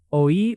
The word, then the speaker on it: oí: Oí has two clear vowel sounds. O-E. Don't crush it into one syllable. Let it breathe a little.